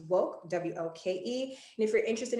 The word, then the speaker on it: WOCC: of color in cannabis wocc pronounced woke wlke and if you're